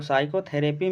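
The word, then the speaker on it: psychotherapy: Which letter is silent word in साइकोथेरेपी। तो साइकोथेरेपी में पढ़ा जाता है, सामने पहला अक्षर पी है, पी का प्रोनाउंसिएशन ही नहीं हो रहा है, इसलिए पी जो है इसमें साइलेंट होगा।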